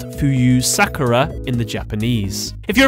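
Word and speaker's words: 浮幽さくら: pronounced Fuyu Sakura in the Japanese.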